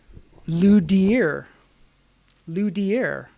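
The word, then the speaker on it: luthier: know what's even weirder it's pronounced louder dier like d well yeah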